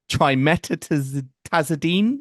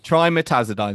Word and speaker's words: trimetazidine: Trimetazidine. Is that right? Am I saying that right? Not quite right. I mean, Okay. you're almost They there. always have these really Trimetazidine. trimetazidine.